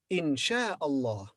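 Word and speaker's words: إن شاء الله: it becomes followed by because this alif is silent here in sher allah in sha allah when you speak about something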